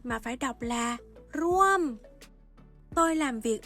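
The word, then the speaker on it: ร่วม: được quy định đọc bằng thanh thô, không đọc là ร ่ ว ม mà phải đọc là ร ่ ว ม Tôi làm việc ở Bangkok.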